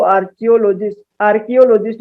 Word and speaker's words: archaeologists: और जो पुराने जमाने के खुदाई के बारे में स्टडी करते हैं उनको आर्कियोलॉजिस्ट भी कह देते हैं। ये इसका क का उच्चारण होता है, स्पेलिंग सही करना।